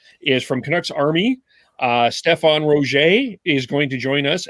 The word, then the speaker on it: Roget: Stefan Roget.